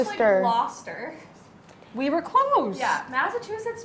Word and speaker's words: Gloucester: It's Gloucester. actually Gloucester.